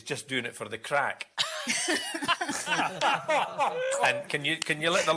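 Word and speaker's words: craic: Shane Ritchie is just doing it for the crack. And can you let the lawyer know that's spelled C-R-A-I-C, please?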